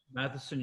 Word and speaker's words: Matheson: Am I saying it right? Matheson, you got it spot on.